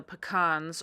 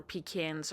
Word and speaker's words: pecans: Then I almost forgot the pecans or pecans or however you want to say them. It's okay, whatever you want to pronounce them. That's how you pronounce them. I say both, so it just depends on the day.